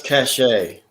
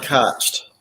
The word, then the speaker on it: cachet: i don't keep asking let's pronounce cachet okay yes not not catched okay cheese how many